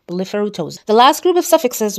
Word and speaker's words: blepharoptosis: So, blepharoptosis means drooping of the eyelid. Remember, the P is silent.